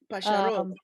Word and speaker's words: pájaros: Pájaros, actually. Emphasis on the last syllable.